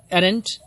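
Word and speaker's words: arraigned: उसके बाद है एरेंट, मतलब एक्यूज्ड, इसमें जी साइलेंट होंगे. एरेंट मतलब अपराधी, वैसे अरेंज भी पढ़ते हैं लेकिन जी साइलेंट होते हैं इसमें.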